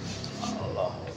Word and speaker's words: আল্লাহ: আর আল্লাহর নামের পূর্বে যের হইলে পাতলা হবে। এইদিকে আল্লাহু আকবার।